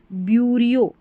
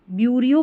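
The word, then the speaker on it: bureaucracy: डेमोक्रेसी लोकतंत्र यह है ब्यूरियो ब्यूरोियो बोलें या ब्यूरो बोलें ब्यूरो ब्यूरो यहां पर क्रेसी है लास्ट में ब्यूरो क्रेसी ये पूरा का पूरा देखिए ब्यूरो बन जाएगा ब्यूरो ये क्रेसी आप अलग कर दें इस क्रेसी को बाकी यह जो है ना आगे वाला ब्यूरो पढ़ा जाएगा ब्यूरो आर ई ए यू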